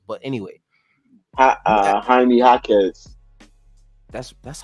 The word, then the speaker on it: Jaime Jaquez: I sound old as hell when I try to pronounce these names. But anyway, Jaime Jaquez. That's how you say his shit. Yeah, Jaime Jaquez.